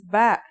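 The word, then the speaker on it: ب: Our first letter of this lesson is ba. And yeah, it makes a B sound.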